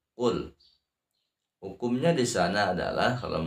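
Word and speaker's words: قُل: Qul a'udzu birabbil falaq. Qul a'udzu birabbil falaq. Dalam ayat pertama, yang pertama tulisannya qul ya, qaf qul. Terus dibaca bukan kul, tapi qul.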